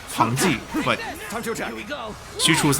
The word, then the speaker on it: Pang De: It's not Pang De, it's Pang De, but Xu Chu's name has been wrong since forever, so I'm struggling with the counter on this one.